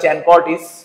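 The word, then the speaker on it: Chancourtois: সাকুরতোয়া চি আইস চানকর্টিস এটার নাম উচ্চারণটা চ্যানকটিস।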